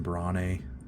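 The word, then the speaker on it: Brahne: I also know it's probably pronounced Queen Brane, but when I was a young kid and I played Final Fantasy IX, I always just pronounced it as Bran, so it's a really bad habit to break.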